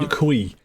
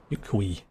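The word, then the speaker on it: Yok Huy: Yukui. That's how it's pronounced. Yukui.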